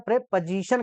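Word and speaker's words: preposition: देखो, प्रे, इसका सही उच्चारण होता है प्रेपोजिशन कहते हैं। जब पोजीशन वर्ड किसी वर्ड के पीछे लग जाए तो उसका उच्चारण हो जाता है पोजीशन, ना कि पोजीशन।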